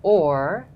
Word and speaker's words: hour: all okay but if you know that hour was pronounced or and because Elizabethans often dropped their ages they would pronounced horror the same way so then it becomes